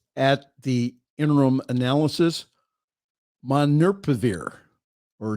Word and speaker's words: Molnupiravir: Molnupiravir, that's how you pronounce it, is not a vaccine.